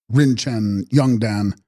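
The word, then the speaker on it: རིན་ཆེན་འབྱུང་ལྡན: Text: Rinchen Vyung Ildan, pronounced Rinchen Yungdan, Sanskrit Ratna Sambhava, I.C., born of a jewel.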